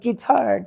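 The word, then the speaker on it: Guittard: this recipe does say how do you say guitard oh guitard guitard okay it's it's it's guitar yeah exactly okay that's how to remember really good pneumonic device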